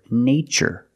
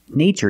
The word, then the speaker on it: nature: the spelling pattern t-u-r-e in this spelling pattern T is pronounced with the CH sound like chicken so we see the word nature and the other word